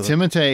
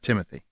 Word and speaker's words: Timothée: Timothée is actually how you say his name correctly. It's not Timothy. It's not Timothy? It's He's Timothy? French. It's Timothée.